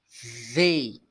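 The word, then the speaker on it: they: Então essa palavra aqui o th th vai ter que você bota a língua no dente para pronunciá-la e você vai falar Zei a ver ok e para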